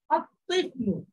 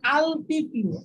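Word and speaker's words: الطفل: এই 13টা হরফের একটা, এর শুরুতে যখন আল আসলো তখন এই লামটা উচ্চারিত হচ্ছে না, যেমন দেখেন আত্মিফলু, আত্মিফলু শিশু বাচ্চাটি, শিশুটি আত্মিফলু, এখানে কিন্তু আপনি যদি বলেন আলতিফলু, আলতিফলু মানে লামটা ধরে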